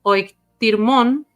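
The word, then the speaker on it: οἰκτίρμων: La ternura compasiva de que él le atribuye a Dios al llamarlo oiktirmon, tiene el acento en la I, es uno de los atributos divinos más característicos de la teología de Israel.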